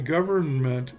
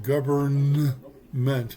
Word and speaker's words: government: Now when you say government make sure you pronounce the letter both of the letters N. Government not government otherwise you